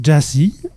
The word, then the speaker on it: Gyasi: Avec nous, Stéphane Deschamps, journaliste, auteur et coprogrammateur de l'équipe de Nuit l'alligator pour m'aider à échanger avec notre invité, dont le nom se prononce GYASI.